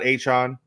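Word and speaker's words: Achane: Devon Achon, let's say his name right because he coming after you if you don't. So. Yeah, you know what I'm saying. He finally it's A-Chain to me, baby.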